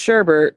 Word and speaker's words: sherbet: It's pronounced sherbet even though there's no R.